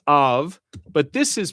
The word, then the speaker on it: av: Okay, for instance, in right, that's pronounced av, but this is pronounced abba.